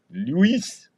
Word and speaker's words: Luis: All right, how you want to pronounce this guy's name? Louis Gear. Luis.